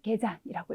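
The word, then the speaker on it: 下山: 등산도 예외 발음이어서 토잔이라고 읽어주셨는데 하산이 되는 경우에도 우리가 개잔이라고 읽어주셔야 되기 때문에요.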